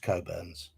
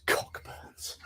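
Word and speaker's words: Cockburn's: Burns it's pronounced coburns but it says cockburns it's port much stronger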